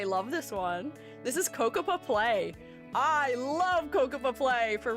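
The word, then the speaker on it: Cocoppa Play: This is Kokapa Play.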